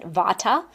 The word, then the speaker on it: vata: So the first type the first mindbody constitution we call vata. Here in the west we pronounce it vata.